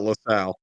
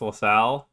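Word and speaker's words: La Salle: It's definitely not Lasal. Oh, it's Lasale.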